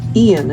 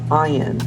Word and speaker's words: Ian: what else here Ian is coming through i-a-n I've actually heard that name pronounced iron as well so I guess it depends but I'm seeing it as